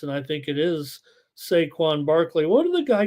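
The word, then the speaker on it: Saquon Barkley: for the octopus and I think it is saquan Barkley What do the I call him there there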